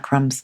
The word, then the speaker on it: crumb: always about all about crumbs so we added the word added the letter B to crumb for some reason why did we add it when we don't pronounce it well we have